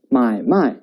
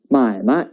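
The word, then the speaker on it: 买卖: in chinese language let's look at another word if we pronounce it as mai mai it means by and cell there are two verbs well when we pronounce it as mai mai it means business it's a noun to sum up neutral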